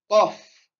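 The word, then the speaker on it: قاف: Et là, le Qaf, on le sort de la gorge. D'accord? On le sort de la gorge. Qaf.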